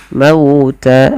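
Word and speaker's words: الْمَوْتَ: Mauta lembutkan pada lafal mauta karena di sini ada bacaan lin yang dimana fathah bertemu dengan huruf waw, yang mana waw termasuk huruf lin dan juga huruf mat.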